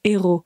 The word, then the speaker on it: héros: Est-ce que vous comprenez les héros? Parce qu'attention, ça ressemble à l'anglais, mais la prononciation est très différente.